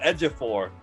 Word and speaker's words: Ejiofor: What is the theme of, excuse me, sir, how do you pronounce that again? It's Chichilio Ejiofor.